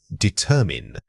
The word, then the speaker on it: determine: The word is determine. Say it again, determine. Notice how the er sound is often reduced when spoken quickly, which can undermine clarity. When you are presenting or discussing findings, exaggerate this middle vowel slightly to ensure listeners correctly perceive the root structure of your verb.